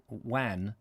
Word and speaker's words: wan: one rhymes with ron says um wan not van rhymes with one oh okay sherlock holmes